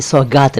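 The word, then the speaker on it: सौग़ातें: देखिए, सौगात नहीं, सौगातें, गा के नीचे नुक्ता।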